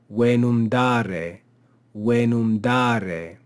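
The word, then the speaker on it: venumdare: We have the verb dare, which was given here, dare, and we add venum or venum to it, but we retain the accent on the verb, venum dare.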